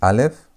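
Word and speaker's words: אלף: We have the first letter, which is Aleph. Aleph is silent.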